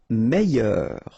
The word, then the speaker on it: meilleur: Meilleur. Okay, same thing here, I-double-L-Y, meilleur. Mieux.